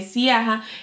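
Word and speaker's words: Ziaja: de la marca de Siaja. Esto, de Yaya, porque es Yaya que se pronuncia.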